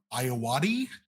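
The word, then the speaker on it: Ayoade: double starring Jesse Eisenberg uh directed by Richard iati I found that is how you pronounce it um the scores for this our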